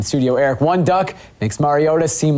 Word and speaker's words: Mariota: the scene there was some confusion was it Mariota Mariota or Mariota we now know that Marcus pronounces his last name like Nintendo's plumber and